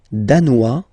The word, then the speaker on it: danois: Le Danemark, danois, danoise. Z, okay, insist on that. Danois, don't pronounce the final S.